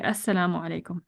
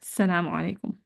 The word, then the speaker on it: Assalamu alaikum: The explanation is one must be careful in pronouncing the closing salam to say Assalamu alaikum and not just Salamu alaikum. He has to start by saying Assalam.